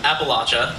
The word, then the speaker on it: Appalachia: Appalachia project and appal Appalachia Appalachia that's how they pronounce it there um is a project